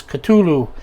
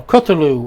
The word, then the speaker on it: Cthulhu: crafts catulu miso says cthulhu himself or kotulu or kutulu however you want to pronounce it there's no proper way to pronounce it it's not supposed to be able to pronounce by man and of course there